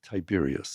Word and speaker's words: Tiberius: Something that I see that you teach is the Tiberius Success Formula. Is that how you say it, No, Tiberius? it's pronounced Tiberius. Tiberius.